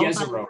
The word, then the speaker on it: Jezero: It's, I'm not sure how to pronounce it though. Jezero, right?